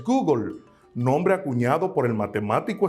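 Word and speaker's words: googol: alto conocido te cuento existe un número que se escribe gogol y su pronunciación en el inglés es google nombre acuñado por el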